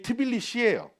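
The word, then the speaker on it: თბილისი: 그래서 조지아의 수도의 이름이 트빌리시예요. 원래 트빌리스인데 얘들은 자음으로 끝나는 발음을 싫어해서 무조건 이를 붙여요. 그래서 트빌리시라고 부르는 거예요.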